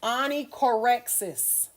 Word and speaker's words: onychorexis: This one is pronounced onychorexis.